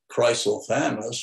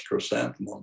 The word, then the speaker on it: chrysanthemum: linguist corrected me once he says you call it chrysal thanos what do you call that big yellow pom-pom flowers well that's chrysanthemum he says well both those pronunciations pronunciations are okay but y'all use the same so i've started calling it crystal thanos rather than chrysler thanos but here in the